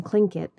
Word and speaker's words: Tlingit: Garvey said he was a Tlingit Indian, pronouncing Tlingit proudly, with a clicking of his tongue as if saying Tlingit.